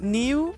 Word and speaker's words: Niu: That's Niu is the new player. Are we pronouncing his name right? Is that the way you pronounce it, Niu, or is there a different way to pronounce it?